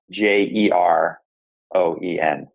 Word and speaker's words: Jeroen: So Jeroen is spelled Jeroen. So for those that do want to find it, but pronounced Jeroen, as I learned earlier on today.